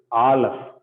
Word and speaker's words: Aleph: The first letter is Aleph. Okay, Aleph. So Aleph, it doesn't have any sound. Firstly, Aleph doesn't have any sound. It is a silent letter.